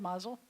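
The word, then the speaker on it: מזל טוב: so Mazel Tov is the ashkenazic pronunciation when notice we're shifting the accent to the beginning of the word Mazel and swallowing up the end of it but in Hebrews Mazel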